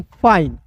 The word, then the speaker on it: फाइन: देखिएगा एफ का दोस्तों फ होता है ना और अंतिम में आई एन ई आता है तो इसका उच्चारण आइन के रूप में करेंगे दोस्त मेरे, क्या हो जाएगा फाइन हो जाएगा।